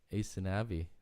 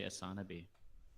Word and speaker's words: Aysanabee: already good anyways uh asanavi thanks for joining us i'm not sure if i'm saying it right yeah actually actually you're you're you're one of the few people that do most people say yeah most people say asana bee yeah well i'm really